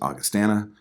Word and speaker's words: Augustana: And I used to think it was called Augustana, but I heard the singer pronounce it Augustana.